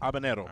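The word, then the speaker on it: habanero: you do not uh you do not pronounce the h and the N does not have an NAA on it okay so it's an Hab ano abanero all right I don't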